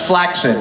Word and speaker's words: flaccid: hi P PID ow and flaccid is pronounced flaid by the way oh next question